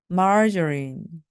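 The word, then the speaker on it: margarine: 대형으로 사용하는 마가린 있죠 마린도 마찬가지로 강세와 리듬이 있습니다 그래서 marjin margarin 마린입니다 마가린을 다 먹었는지 없네요라고 말씀하실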